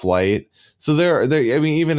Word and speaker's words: Light: the kanji for moon, but his name is pronounced Light.